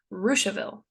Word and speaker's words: Russiaville: My favorite are Versailles, which is pronounced Versailles, and Russiaville, which is pronounced Ruchaville.